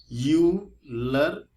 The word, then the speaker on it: Euler: तो इसको बोलते हैं यूलर नंबर। ये जो नंबर है ये बड़ा ही खास है, ठीक है। स्पेलिंग देखिएगा, EULER है, EULER है।